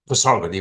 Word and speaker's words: Pasargad: Today I'm going to talk about the site of Pasargadae or Pasargad as the Iranians pronounce it.